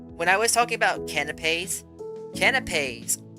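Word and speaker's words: canapé: actually just sandwiches when I was talking about canipes canipes c a n a p e is how you spell it canop canipes are a simple sandwich with the cut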